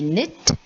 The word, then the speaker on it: knit: then you have knig knit we talked about knob then there is knock there is not there is no and there is knowledge so all these k's are silent okay now you have